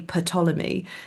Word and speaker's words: Ptolemy: there is actually a school of Egyptologists who say Ptolemy.